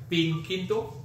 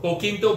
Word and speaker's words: Pinquito: Pinquito? Pinquito. Pinquito beans. Pinquito beans. Is that Pinquito? P-I-N? Is that Spanish sounding? P-I-N-Q-U-I-T-O? Pinquito. Pinquito. It will be like little pink. Little Pinquito beans.